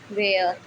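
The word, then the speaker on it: where: डब्लू के तुरंत बाद एच आता है तो एच साइलेंट रहता है। जैसे कि वाई, वॉट, वैन, वेयर।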